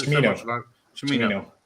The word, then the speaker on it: Cimino: I've said it so much about Chimino. There's no H. Chimino. It's silent. And invisible. But, it's CH Chimino. Chimino.